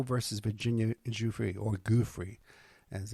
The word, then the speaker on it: Giuffre: versus Virginia Giuffre, or Giuffre, as it's pronounced.